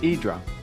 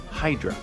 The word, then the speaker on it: Hydra: This very unique Greek island is pronounced Hydra, not Hydra.